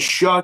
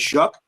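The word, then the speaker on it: Shough: Bree all as your running back pronounced sounds like Shaw to me, but it's Shuck.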